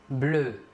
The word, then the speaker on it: bleus: masculin pluriel deux papillons bleus papillon est bien ici masculin pluriel nous ajouterons donc un ace marque du pluriel à l'adjectif de couleur bleue le s final ne se prononcent pas maintenant un adjectif de